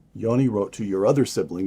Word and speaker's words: Yoni: your older brother, Yoni. Am I pronouncing that correctly? Yes. Yoni.